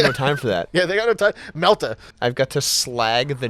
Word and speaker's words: melta: now so fast you can't pronounce the r in melter true I got no time for that yeah melta I've got to slag